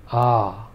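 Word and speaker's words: आ: first pair of vowels these are sounded as follows a ah notice how the first short vowel was just a short wrapper a sound whereas the longer vowel was more drawn out also in this case the vowel sounds themselves are distinct listen carefully one more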